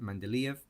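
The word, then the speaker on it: Mendeleev: In Mandelv's periodic table, that's how you pronounce it, Mandelv because he's Russian.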